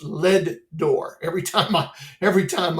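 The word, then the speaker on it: Leadore: out there in LED it's pronounced lead door every time I every time I uh every time I say it everybody always corrects me no it's not a door it's lead door and so um we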